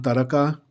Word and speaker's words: taraqa: Taka, that's how you pronounce it.